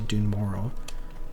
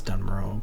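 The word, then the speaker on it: Dun Morogh: Where we have a mountain pass here to head into Dune Mororrow, which I've always pronounced as Dunro, but it's allegedly wrong.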